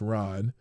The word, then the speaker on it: Ran: For example, I enjoy Ran, pronounced Ron, which is basically King Lear with samurai.